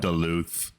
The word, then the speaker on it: Duluth: mispronounced that, but- Duluth.